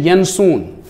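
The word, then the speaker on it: Janszoon: Australia, ये है William यनसून, ये जो है जे इसको ये क्योंकि ये स्पेलिंग है डच की।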